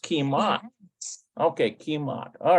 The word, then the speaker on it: כמעט: It's not kimeat. There it is. כמעט. It's just kimat.